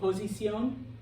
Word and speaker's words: posición: Oh, posición, position, accent on the O.